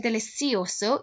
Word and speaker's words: delicioso: then it is delicioso if you are saying delicioso you're not wrong in your pronunciation but it is as i've said to my classes that's more south american spanish and central america spanish like mexico you will hear that kind of spanish spoken in songs like despacito in spain they would pronounce that despacito we are from europe